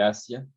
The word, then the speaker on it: ASIA: del daño neurológico entonces se llama escala de asia así como se escribe a s s a hacer como el continente nos dice que el